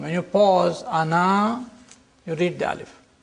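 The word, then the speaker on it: أنا: words this means that the alif is not pronounced in continuous reading but it is to be pronounced in the pausal form when you pause ana you read the alif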